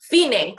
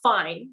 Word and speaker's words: Fine: to you know okay fine so moving on to the second column there phene is the end it's not fine you say fine two different syllables here and it means